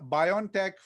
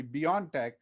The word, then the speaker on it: BioNTech: us was the uh bion tech pfizer or you know the way they like to pronounce it is actually beyond tech uh so beyond tech